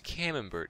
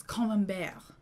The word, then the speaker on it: Camembert: specifically though it was camembert cheese a variety that france is famous for sam you said it wrong it's common bear oh it's common bear